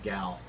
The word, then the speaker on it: Gal: hadn't before, such as Gal Gadot in Wonder Woman costume. We've been saying that wrong. There's not an I in her name. It's Gal.